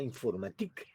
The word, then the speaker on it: informatique: Allí, pues en francés se llama informatique. Informatique. El sufijo este ica del español en francés es ike, o como se pronuncia, ic, informatique, allá por 1952.